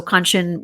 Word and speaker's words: Kanchan: So Kanchan was very awesome in that she said to remember the word luncheon, that rhymes with Kanchan.